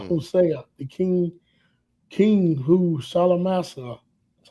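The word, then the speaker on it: Shalmaneser: the time of Mm, Hosea, the king who Salamasa, that's how you pronounce that, the king of Assyria, led away mm.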